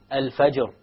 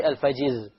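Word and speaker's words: الفجر: Examples are al-fajr. Al-fajr. We don't say al-fajiz. Al-fajr.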